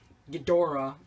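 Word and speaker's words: Ghidorah: to do some uh Gater of the or gadora that's technically how you say it uh gadora three-headed monster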